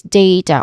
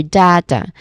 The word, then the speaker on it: data: Following this is data or data. So there's two common pronunciations. First is data, which is more common in American English. We say day, which has a clear diphthong sound.